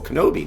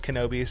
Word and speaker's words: Knobbe: my last name is Kenobi so I'll hear that one pretty often uh and then my friends back home call me knob because phonetically that's how it looks like it should be pronounced uh and there's some